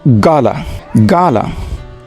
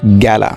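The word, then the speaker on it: gala: আসলে এটির উচ্চারণ গ্যালা হবে না, এটির উচ্চারণ হবে গালা, নট গ্যালা।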